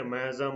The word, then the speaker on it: miasm: Okay, then abnormality is miasm. Okay, miasm or miasm. Okay, you can pronounce anyway.